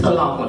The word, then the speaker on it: Talahun: It's pronounced with a T, Talahun.